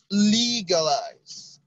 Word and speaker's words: legalize: astre legalize all right legalize has a stress on the first syllable legalize legal is distressed on